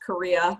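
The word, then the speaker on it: Correa: to laugh because um my my last name is actually pronounced korea ryan makes it sound so much fancier than it really is but i laughed and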